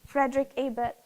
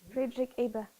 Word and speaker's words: Friedrich Ebert: E eu vou pedir ao irmão Gabriel que pronuncie essa palavra. Friedrich Ebert. Friedrich Ebert.